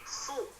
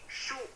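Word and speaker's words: صُ: Jadi dibacanya su. Jangan sampai dibaca su atau malah terlalu tebal jadinya seperti huruf shin. Jadi shu.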